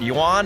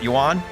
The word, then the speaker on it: yuan: now have a cyber is it yuan is that how they say it yuan i believe yeah the yuan yeah